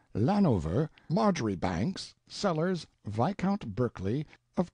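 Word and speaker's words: Marjoribanks: Honorable Kirk cbright lover marjerie Banks sellers vicount Berkeley of chundy Castle Warwickshire pronounced kbri Slover Marshbank sellers vicount Barkley of chumbley Castle workshire he is standing by a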